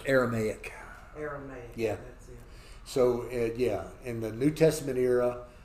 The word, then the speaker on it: Aramaic: Aramaic.